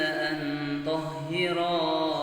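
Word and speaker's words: أَنْ طَهِّرَا: Ya, kadang ada orang bacanya yang dipendekkan saja. An tahhira baitiya lit-taifin. Ya, mestinya dibaca ro panjang satu alif seperti yang sudah kita sampaikan dalam tampilan tadi.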